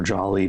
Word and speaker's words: Jolley: along Jolly Gulch and I've heard it pronounced Julie or Jolly by Rangers so choose your choose your pronunciation run with it and then we have